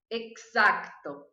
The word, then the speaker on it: exacto: E a número 5, eu vou falar exacto. Tenta falar aí, ver se você vai conseguir. Exacto. Porque tem que pronunciar esse Czinho aqui também. Ele não é mudo.